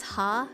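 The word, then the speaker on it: ห้า: my legs inst in Thai you pronounce five as ha that's how many ha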